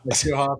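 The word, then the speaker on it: Scheelhaase: Shieldhouse, yeah.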